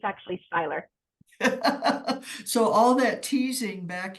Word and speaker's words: Seyler: I was called sailor girl but it's actually Styler so all that teasing back in high school was for not because they couldn't pronounce it correctly or your married name huh